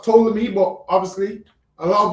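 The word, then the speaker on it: Ptolemy: So it's it's pronounced tolamy but obviously a lot of us say poleami.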